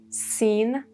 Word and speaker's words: scene: Scene, you see both C and last E are silent.